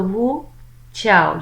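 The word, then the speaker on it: Wu Zhao: it's not it it it begins with a Z but I checked its pronunciation it is called who I lost my cursor here okay so Wu chow you will see it mucho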